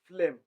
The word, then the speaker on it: phloem: It's pronounced as phloem. Phloem.